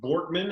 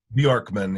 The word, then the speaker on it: Bjorkman: Mike Borkman, am I saying that right, Mike? Bjorkman, yeah, it's pretty close. Borkman. Okay, got to get the emphasis on the right syllable. Like Bjork, the singer.